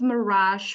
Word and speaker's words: mirage: there's a kind of Mirage far away from here Mirage far away so the at the end of Mirage changes into sh so this means that